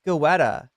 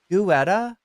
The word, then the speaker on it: Guetta: know about this David goetta Getta so it's really pronounced like I just figured since it's French that it's not going to be pronounced like it looks Getta deid Getta it's